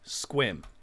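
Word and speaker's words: Sequim: ahead i'll wait the first one is squim for this one i spelled it phonetically this will largely be how you solve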